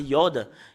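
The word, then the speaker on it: יוד: une signification voilà Yod si vous voyez ce terme c'est Yod et le fait de le lire c'est I et cela la signification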